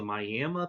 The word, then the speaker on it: Miami: So some people say that going all the way back to the indigenous people of Southern Ohio, specifically the Miami, or I've also heard it pronounced the Miami people of Southern Ohio, and